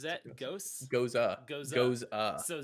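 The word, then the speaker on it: gose: it's a goza. I remember the It's first time goes. I tried to pronounce this word to you and you like shit on me for it.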